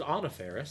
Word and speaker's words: Anna Faris: So I did not know it was Anna Faris, so Okay.